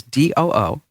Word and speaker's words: Doo: His first name is D-O-O. Do. His middle name is S-O-O. Sue. And his last name is Y-O-O. Do sue you?